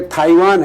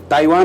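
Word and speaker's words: Taiwan: जैसे ताइवान है, ताइवान उच्चारण नहीं है, वो टी का था होता है।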